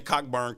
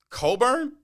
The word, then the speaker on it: Cockburn: 15 on people right but to coburn can you guys think of another word where the ck is silent no at all not the